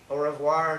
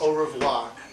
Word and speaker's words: au revoir: Au revoir to the edited broadcast. Au revoir. You don't pronounce the R Yeah, here.